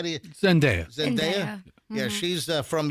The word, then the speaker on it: Zendaya: Oh, and Zendaya? Is that how you say it? Zendaya? How do you? Zendaya.